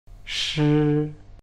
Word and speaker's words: 是: were We use “是” Shi Sh i 4th tone Sh~i ，